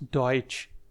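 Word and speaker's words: Deutsch: और फ्रेंड्स नीचे है जर्मन को हम बोलते हैं दास डइच। दास डइच जो जर्मन के लोग हैं वो इसको दास डइच बोलते हैं अपनी अपनी कंट्री में।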